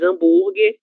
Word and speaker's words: hambúrguer: Mas hambúrguer é uma forma abrasileirada para se referir a essa comida. E é por isso que esse H, ele será surdo, ok?